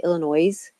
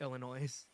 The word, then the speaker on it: Illinois: people who say Illinois. No, S is silent. That's true. Or I don't I know. still Just correct people when people say Illinois.